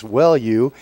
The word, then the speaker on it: Welu: I'm sorry that I mispronounced his last name during the pregame show. It's Welu, spelled W-E-L-U.